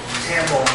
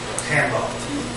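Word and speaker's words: Tombow: You can take that Tambo marker, and because it's so fine, get in that little groove and make whatever color you want.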